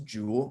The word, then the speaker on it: Juul: And his back of his jersey says Jewel, but it's spelled Juul.